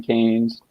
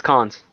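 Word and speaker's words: Cannes: Canes. It's cons. Cons.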